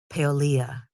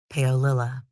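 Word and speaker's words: Paolilla: the Clear Lake murders to parents Lori and Charles I apologize if I'm mispronouncing her name I've also heard it pronounced paolia but more consistently paolila Christine had an older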